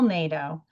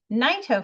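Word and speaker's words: Naito: You heard Nato family and Bill Nato. Bill was born William Sumio Nato, but he changed the pronunciation in the 1950s to NATO.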